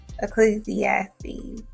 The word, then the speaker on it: Ecclesiastes: just wrong just fix it that's how you pronounce it ecclesiastes you start mumbling stay clear so the people